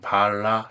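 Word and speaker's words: בעלה: 따라서 바알레의 끝 자음은 본래 해이며 이때 발음은 바알라 예후다로서이를 번역하면 유다의 바알라가 됩니다.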